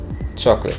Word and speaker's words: chocolate: word now in english we would say chocolates chocolate but in spanish we would say chocolate properly pronouncing your vowels is the most important step